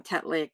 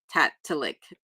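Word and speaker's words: Tatitlek: Tatlik is Tatalik. Tatalik.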